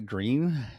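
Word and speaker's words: Gruene: Uh, I'm at Magnolia Green. Green is spelled G R U E N E just like green Texas.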